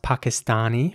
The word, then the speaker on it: Pakistani: In British English, the word would be pronounced Pakistani with R's. And in American English, it would be Pakistani with A's. With A-sounding A's.